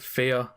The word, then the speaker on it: Fe: you might be wondering why on earth I just called it fear well that's actually how it's pronounced according to the developers fear anyway onto the